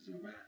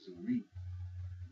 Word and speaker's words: Zuri: So when you pronounce it, Zuri, you hear the I at the end. Now if you say Zuri, you're making it sound like that. The I, it sounds like an E.